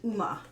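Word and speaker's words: Yzma: um retta guard scar and uma i believe the zed is silent so we've got the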